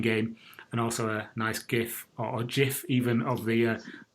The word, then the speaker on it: GIF: Go on there, you can have a look at some of the nice screenshots of the main game and also a nice GIF or GIF even of the bizarre dragon demo.